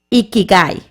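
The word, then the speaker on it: 生き甲斐: Eh, usted ha escuchado del iki iki ikig a ver, yo ahorita le voy a decir bien cómo se se pronuncia del ikigai. Ikikai, que es una palabra japonesa y se refiere al sentido de la vida.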